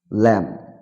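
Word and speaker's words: lamb: কোন কোন শব্দে বি লেটারটা উচ্চারিত হবে না সাইলেন্ট থেকে যাবে কম মানে চিরনি ল্যাম্প মানে ভেড়া টম মানে সমাধি থাম মানে বৃদ্ধাঙ্গুল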